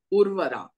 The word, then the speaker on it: Urvara: what is all about urvara if I'm getting the if I'm pronouncing it right am I right yes yes sh something about TDM yes you're pronouncing it absolutely right it's a Sanskrit word urvara uh it has come